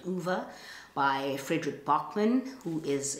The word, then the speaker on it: Ove: It follows the life of a man called Uwe, O-V-E. Uwe or Uwe. I don't know how you say it, but it's definitely not Ove or O-V.